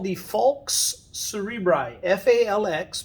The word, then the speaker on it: falx: That's called the falx cerebri, F-A-L-X, pronounced falx, and cerebri, meaning cerebrum.